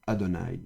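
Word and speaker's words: אֲדֹנָי: manière erronée et profane, on écrit le tétragramme comme ceci, mais on le prononce autrement. Et donc quand on voit normalement ceci le tétragramme, on doit lire normalement ceci. Adonai.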